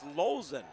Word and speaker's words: Lozen: And he says the pronunciation is Lozen, by the way.